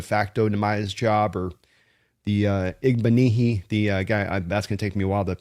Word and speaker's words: Igbinoghene: Uh but it's going to be, you know, It's like mahogany. It's Igbinoghene. I've I've kind of learned how to pronounce it. Igbinoghene.